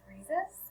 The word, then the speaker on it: Friezas: my name is miss friezas it rhymes with jesus that's how i explain